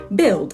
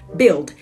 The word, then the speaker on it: build: to say this word do not pronounce the U it is build and the past tense